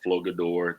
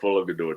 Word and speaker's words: Flogador: We tell people we're from the we tell people we're from the planet called Flogador. The G is silent. That's the name of the planet, Flogador.